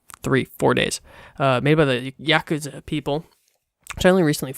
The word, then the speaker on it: Yakuza: Yakuza, not Yakuza, which I constantly kept saying, but that is neither here nor there.